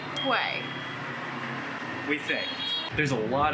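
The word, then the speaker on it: Huế: automatically started pronouncing it q Vietnam which we learn is not the route it is pronounced way we think there's a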